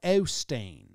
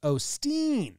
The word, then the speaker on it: Osteen: them know all right joel or claude claude o stain claude osteen they say it's pronounced osteen they say that you go your little soft